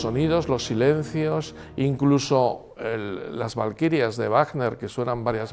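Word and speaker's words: Walküre: Por cierto, Valquiria, que en castellano se puso con V, se pronuncia en alemán con V, porque la W alemana se pronuncia con V y está bien puesto así, Valquiria, no Walkiria como pronunciaría un inglés.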